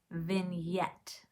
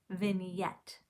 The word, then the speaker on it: vignette: is vignette can you say that with me vignette it's spelled funny it's v i g n e t t e vignette and to understand what a vignette is i